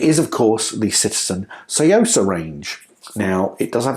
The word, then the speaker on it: Tsuyosa: of course the citizen Sosa range now it does have a t on it but apparently you don't say the T so it's not toosa it's Sosa but if there are